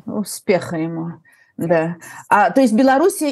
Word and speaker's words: Беларусь: ему да то есть Белоруссия или Беларусь Это разница между русским и Белорус белорусским произношением Но сегодня и конечно по-русски